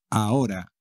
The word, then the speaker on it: ahora: conoce todo el mundo ahora a o para nada y como siempre la h no se pronuncia nunca en castellano neurona dos djs micro